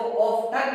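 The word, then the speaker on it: often: इसको ओपन भी बोल सकते हैं और इसको ऑफ्टन भी बोल सकते हैं। दोनों चीजें यहाँ पर मान्य हैं, दोनों प्रोनाउंसिएशन यहाँ पे मान्य है, इस बात का ध्यान रखना।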